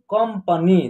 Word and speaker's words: कंपनी: यहाँ क के ऊपर जो है अन की मात्रा है, यहाँ इसका अम का उच्चारण होगा, अम यानी आधा म का उच्चारण होगा, कम। उसके बाद प, न में बड़ी की मात्रा नी, कंपनी।